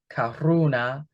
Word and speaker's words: karuna: And I just want to say that it's spelled K A R U N A. It almost sounds like Corona, right? But no, life's a beach, right? Here it's Karuna and that is universal love.